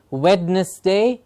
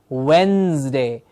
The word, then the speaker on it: Wednesday: on Wednesday please remember the D in the middle of the word is silent it is not wetness day it is Wednesday like the word when